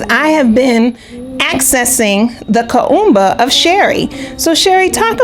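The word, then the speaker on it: Kuumba: Kumba is spelled K-U-U-M-B-A. You can say Kumba.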